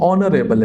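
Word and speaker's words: honorable: और यहाँ पे एच साइलेंट है, ये ऑनरेबल है, एन ऑनरेबल मैन, सही है।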